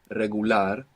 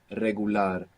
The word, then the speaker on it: regular: talk about this r an initial R like in regular in most Spanish dialects it's a rolling R you get this flick of the tongue regular real we saw this